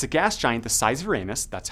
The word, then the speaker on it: Uranus: 47 C it's a gas giant the size Uranus that's how you pronounce it so don't make any comments and